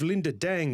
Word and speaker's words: Linda Dang: Today I'm have Linda Deng the chief executive officer and director of growth management and financial advisory at Advisory Accountants.